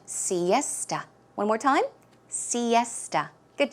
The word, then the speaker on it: siesta: sometime in the afternoon pronunciation is siesta siesta so it's more of a tuh aa sound siesta one more time siesta